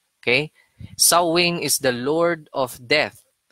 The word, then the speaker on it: Samhain: It's spelled this way, Samhain, pero it's pronounced as Samhain. Okay? Samhain is the Lord of Death.